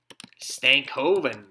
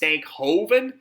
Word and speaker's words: Stankoven: Oven, but it's funny how many people put an H in there because it's actually kind of pronounced Stankhoven, but there's no H obviously, but it's often spelled with an H between the K and the O.